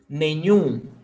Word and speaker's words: nenhum: Oxytonas are those words in which the last syllable is stressed, okay?